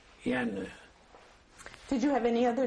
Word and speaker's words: Jenő: In Hungarian, it was Jenő. Official registered in the birth certificate and papers. How do you spell it? J E N O. It's in Hungarian Jenő.